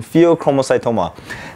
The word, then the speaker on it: pheochromocytoma: so that's today's discussion pheochromocytoma now I actually really enjoy teaching as well as when I was a medical student learning what the pheochromocytoma but one thing is it rhymes with promo sort of read like